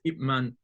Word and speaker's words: Ip Man: it as Ip Man, because in Cantonese the last, like the is it called a, so the P and the N is very subtle. They pronounce it very subtle, only just the lip. You don't pronounce that out. So it's Ip Man.